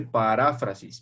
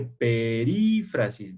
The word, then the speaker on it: perífrasis: te quiero hacer primero no se dice paráfrasis verbal se dice perífrasis verbal fíjense bien cito en